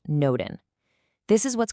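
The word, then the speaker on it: n8n: Now, for our next tool, which is definitely the most technical one, N8, and it's pronounced Noden.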